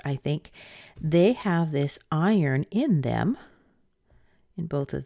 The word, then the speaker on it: iron: high it doesn't matter they all sound the same they sound like iron I yearn isn't that funny